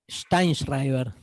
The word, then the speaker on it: Sztajnszrajber: de presentarles a Darío Stanschreiber, ¿cómo se pronuncia este? El Así, imposible. Steinschreiber.